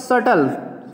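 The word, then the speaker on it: subtle: the mathematics सटल, B silent है, सटल, सटल माने क्या होता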